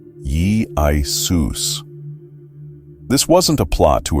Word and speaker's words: Iesous: Put it all together, and the Hebrew Yeshua, YSHVB, became the Greek Iesous, which is pronounced something like Jesus, Ye-I-Sus.